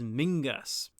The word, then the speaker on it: Menzies: And Menzies is a Scottish name, and the Scottish pronunciation is Mingus. Fun side note, but years ago, the leader of the Lib Dems was Sir Mingus Campbell, nicknamed Ming the Merciless.